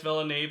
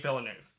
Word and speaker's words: Villeneuve: arrival Disney villanov that's his name not Dennis villene like I said for most of my videos it's the new Villeneuve only time I'm gonna say it's name right thank God I say his name right Denine Villeneuve I'll learn that um Argo or for Christmas